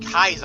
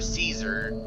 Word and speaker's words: Caesar: both mr house and in kaiser or caesar or the kind of switches between the two pronunciations of his name into the bunker mr